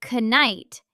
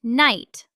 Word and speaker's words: knight: A classic silent K. We don't say canite. It's just night like the opposite of day.